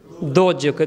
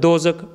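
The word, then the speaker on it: ਦੋਜ਼ਕ: Dojuk. Then Dozuk is in how it's pronounced in Arabic.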